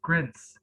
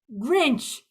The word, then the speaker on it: Grinch: Yeah, for example, like I had a hard time pronouncing Grinch, and I was with my aunt, and I kept saying, "Hey, look, Grints, Grints, Grints," and I kept getting pissed off.